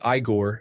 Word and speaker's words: Igor: They all know it is pronounced Igore and not to play with fire.